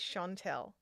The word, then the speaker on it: Chantelle: My name is Chantelle, and that's the pronunciation of my name.